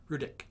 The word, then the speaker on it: Rudich: Rudich. Yes. Okay. It sounds like a K at the end, but It's pronounced as if it's a K, but it's spelled R-U-D-I-C-H.